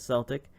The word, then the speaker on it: Celtic: I have learned to pronounce the name as Celtic.